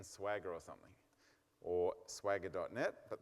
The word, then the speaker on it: Swagger: way of doing it Swagger okay if you can't remember it it rhymes like with MC Jagger I've got little girls